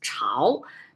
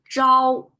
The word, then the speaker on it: 朝: When it's pronounced as Chao, not as Zhao.